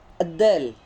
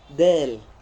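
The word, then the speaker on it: دال: Maka cara bacanya bukan ad-dal. Enggak, bukan seperti itu. Tapi dal, ya. Dal, bukan ad-dal.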